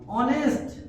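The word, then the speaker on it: honest: ही इज ऑनेस्ट। क्या पढ़ेंगे? ऑनेस्ट। ऑनेस्ट नहीं, क्या? ऑनेस्ट। यानी कि एच साइलेंट हो जाता है, वो के आगे आने से एच साइलेंट हो जाता है तो ऑनेस्ट हो जाएंगे।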